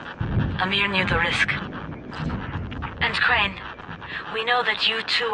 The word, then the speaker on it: Crane: name is crane okay crane rhymes with train and pray and say and gray and Ray and plane and the other kind of plane and and can I